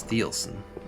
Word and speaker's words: Thielsen: the northern pacific railway the name eventually got americanized to be pronounced as thielson after three or four